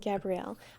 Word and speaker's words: Gabrielle: do you do a my name is Gabrielle Gabriel no Gabrielle I would like to make it known that Gabriel is spelled g a b r i e l most of the time and most of the time Gabrielle is spelled with the extra l e at the end so I just want